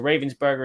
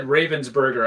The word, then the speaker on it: Ravensburger: with the Upper Deck and they've gone to Ravensburger instead.